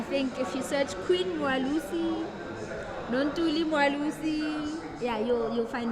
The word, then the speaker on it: Mwelase: Mwalusi. Mwalusi. It's like Mwa. Aware.